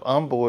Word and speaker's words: Humble: It's funny because the town of Humble is actually spelled humble, like I'm a humble person. But the H is there, but they pronounce it with the H silent, Humble.